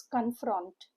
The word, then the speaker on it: confront: Two syllable word. Stresses on the second syllable. Confront. U sound with O letters. C O N is K U N. And F R O N T is F R U N T.